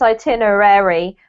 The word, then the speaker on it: itinerary: itinerary yeah so um a lot of people even native speakers spell this wrong because technically its itinerary but because we squish it all in um we forget to pronounce the last part of the word so that's what you'll hear itinerary itinerary okay yeah um does anyone